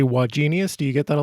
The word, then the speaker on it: Wagenius: i'm tempted to say why genius do you get that a lot i get that a lot and and to be really precise it's three syllables genius with the emphasis on the middle syllable but i'm not doctor